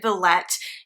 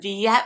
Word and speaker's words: Villette: Theater in Chicago now they do pronounce it Billet instead of Viet my friend Mandy had been using Viet and I kind of conceded to her because she knows French and I don't and she took a